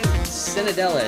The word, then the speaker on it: Cenedella: I'm joined today with Cenedella. Is that how you pronounce it, or did I butcher it?